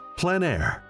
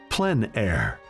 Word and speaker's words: plein air: of outdoor painting called plein air the French coined the term which means open air or outdoors the French pronounced it plan air others say plein air no matter how you